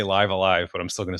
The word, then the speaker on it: Live A Live: still going to say livea live based on like what the Japanese uh katakana says. You're supposed to sort of say it as um it's it's it's pronounced the same on both words.